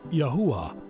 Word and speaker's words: Yahweh: Hebrew it is spelled yod he yuah and pronounced as Yahweh very simple very powerful the savior's name in